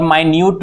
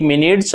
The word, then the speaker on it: minute: और माइन्यूट भी इसको पढ़ा जाता है।